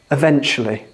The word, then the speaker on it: eventually: And this word, the stress is on the first syllable or the second syllable? Eventually.